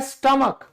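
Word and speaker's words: stomach: फिर है स्टमक। पेट। आज आपको पता चला कि यहां पर हमारा जो एच है वो साइलेंट है।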